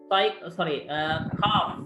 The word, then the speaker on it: calf: You circle the silent letter. Right. Knife. K. Second one. L. Calf.